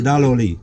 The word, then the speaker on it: Daloli: and of the wire how do you pronounce it together the first one is like da nose alright and then it's law from la p le from million so da lowly yellow alright it's a